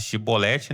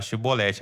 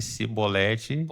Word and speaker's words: chibolete: Os filhos dos Efraimitas, dizendo que se falasse chibolete, né? Tinha que falar chibolete. Agora, quem falasse cibolete Pode cortar o ia ser morto.